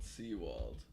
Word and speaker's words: Sewald: Yeah, Seawald, okay. Like that, like spelled like that. Oh, Seawald.